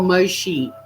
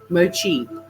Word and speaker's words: mochi: Oh, in America they pronounce it mochi. Mochi or moshi? Mochi. Moshi. Let's see how to pronounce it. Mochi is how you pronounce it, according to this.